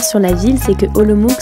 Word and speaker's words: Olomouc: la ville c'est que olomouc se prononce en réalité à l'oms par les tchèques elle regroupe cent mille